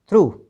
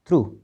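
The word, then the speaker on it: through: टी एच ओ यू जी एच दो और थ्रो टी एच आर ओ यू जी एच थ्रू ठीक है अब जरा देखना यहां पर हमने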